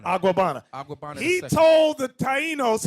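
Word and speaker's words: Agüeybaná: How you pronounce it? Aguabana. Aguabana.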